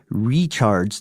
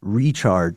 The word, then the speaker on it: Richard: One point of contention, Frankie Richard's name is pronounced Richard, not Richard.